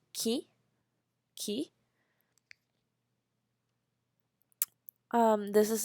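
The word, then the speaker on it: 木: the last example is tree which is called Ki Ki um this is like the tree that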